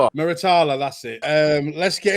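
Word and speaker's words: Muratalla: But how do you pronounce his name? I can't. Moritala. Miritala.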